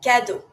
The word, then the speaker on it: cadeau: Cadeau, E-A-U-O sound.